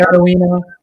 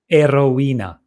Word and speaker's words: Erowena: Oh, hello, Hi, Arowena. Hi, Actually, it's Erowena.